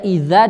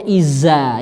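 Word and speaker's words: إذا: Dal ya z jadi sehingga dia membaca idza dibacanya Izza itu salah dia beda makhraj tadizai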